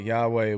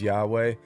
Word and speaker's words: Yahweh: We don't know how to even pronounce the name Yahweh, YHW, and there is no wide scholarly agreement on it. The most widely accepted pronunciation is Yahweh, but none of them are too sure about it.